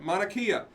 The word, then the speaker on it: Mauna Kea: is that say that again that's how Nakia Mauna Kea is actually this house when it's in Hawaii